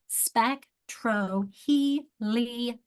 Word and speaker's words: spectroheliograph: Spectroheliograph. Graph. And that O is actually pronounced as an A. Or it's kind of a schwa, it's a spectroheliograph.